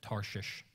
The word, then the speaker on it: Tarshish: think pastor just messed up his speech no Tarshish that's right what makes you feel weird so that's where he went to Tarshish and he bought a ticket went on the